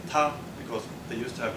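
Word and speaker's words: 他: So this character here is pronounced ta, and it means he.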